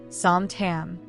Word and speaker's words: ส้มตำ: The answer is sam tam."